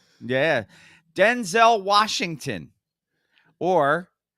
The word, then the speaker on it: Denzel: Denzel Washington, or Denzel Washington, as he says it should be pronounced.